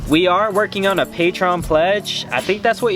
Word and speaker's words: Patreon: We are working on a Patreon pledge. I think that's what you call it. Is that how you pronounce it? Patreon? Patreon? It's definitely not Patron. That's a drink. That's a bad drink that gets me in trouble.